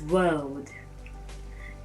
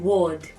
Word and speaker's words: world: nigerians pronounce wrongly is world the world we live in the world we live in some people keep on saying word use word that word no it is wrong when you say a